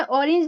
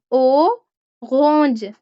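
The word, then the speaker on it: Orange: होता है, ठीक है, उसको आप जर्मन में ऑरेंज नहीं बोलेंगे। लिखा तो ये इंग्लिश के जैसा ही जाता है, स्पेलिंग वैसे लिखे जाते हैं, लेकिन आप इसको बोलेंगे ओरेंज, यस ओरेंज। जो आर की साउंड है थोड़ी सी आप गाइन की निकालेंगे, ठीक है, ऑरेंज।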